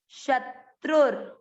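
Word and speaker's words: शत्रुर्: त्र पर उ की मात्रा त्रु, र के नीचे हलंत, आधा अक्षर पूरे के साथ पढ़ा त्रुर, शत्रुर।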